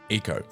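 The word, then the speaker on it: Ico: For now, Eco, which, by the way, is pronounced Eco. I've been called out in the comments for this before, but I assure you there are videos of the producers saying Eco.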